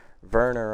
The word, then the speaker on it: Werner: Werner on the year, and I know it's pronounced with a V because he is German.